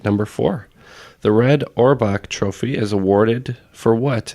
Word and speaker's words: Auerbach: I know this area or bum because it's pronounced uh Auerbach I'm firing famous Broadway star as well look